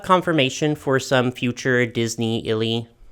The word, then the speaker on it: Illy: for some future Disney Illy apparently they are pronounced illy and not ILY but for right now